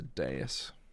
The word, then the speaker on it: dais: It's a dais.